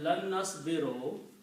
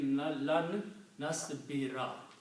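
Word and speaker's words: لن نصبر: So it is pronounced, instead of lan nasbiro, it will be lan nasbira.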